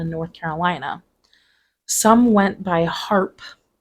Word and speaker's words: Harpe: Some went by Harpe, merely removing the final E in Harpe, Harpe, but leaving the pronunciation the same.